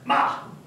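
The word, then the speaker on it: 骂: know galloping horse so if you put two little boxes over it it is pronounced ma means to curse someone to curse someone and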